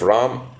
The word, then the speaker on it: Rama: of ram himself if Ram accepted him that is all right so in order to find out what Rama thought of him now I may pronounce it as Rama or Ram sometimes so at please um